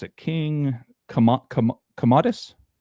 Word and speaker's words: Commodus: King Kam Kamadus. Komodus. C O M M O D U S. Comedus. I don't know. Commodus.